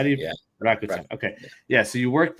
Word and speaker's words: Rakuten: You worked at, I never know how to pronounce this, Rakuten? How do you, yeah. Rakuten.